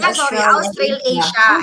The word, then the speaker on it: Australasia: Ano pang pronunciation nito? Australasia? Australasia. It's actually Australasia.